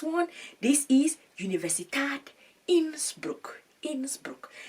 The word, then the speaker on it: Innsbruck: Innsbruck. I'm pronouncing that correctly. I am sure of that.